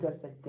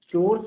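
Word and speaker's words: chores: चोर्स बोलते हैं इसको, कोरस नहीं बोलते, चोर्स बोलते हैं।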